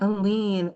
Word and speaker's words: Aline: That's like a lean fighting machine. I love that. Yes, indeed! Go ahead and start with your introduction. Okay. Okay. Good evening, everyone. My name is Aline, and I'm a civil